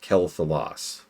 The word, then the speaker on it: Quel'Thalas: But generally speaking, the director's job is to say, oh no, it's pronounced Quel'Thalas.